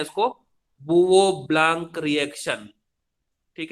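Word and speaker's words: Bouveault–Blanc: अब आप देखो, इसको हम लोग तो ऐसे ही बोलते हैं, सब टीचर्स हम लोग ऐसे ही बोलते हैं, बुवो ब्लांक रिएक्शन। ठीक है, अब इसको अभी पढ़ने जाएंगे स्पेलिंग के हिसाब से तो ये बोवेल्ट जैसा कुछ दिखता है।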